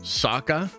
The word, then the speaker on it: Sokka: It's pronounced Sokka.